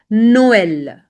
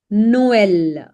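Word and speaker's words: Noël: Now it is used on two vowels and both the vowels are pronounced separately. So whenever you will see this accent specifically laxonma. So there will be like two dots and you have to make sure that you pronounce both these vowels separately per example.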